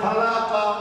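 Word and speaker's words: خَلَقَ: জবর কা, এখন বলেন খালাকা, খালাকা, আবার বানান করেন খা জবর, আবার বানান করেন লাম জবর লা, কা জবর কা, পরে খালাকা, আচ্ছা মিম জবর মা,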